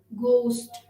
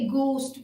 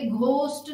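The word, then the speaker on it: ghost: आगे बढ़ते हुए, H is silent in the spelling sequence of GH and the word final position.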